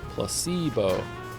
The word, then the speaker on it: placebo: precocious Placebo oh Placebo the stress is on the middle cind Placebo placebo very good you're